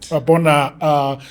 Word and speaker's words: Oabona: Oabona. The other name is so difficult. I'm not able to pronounce it.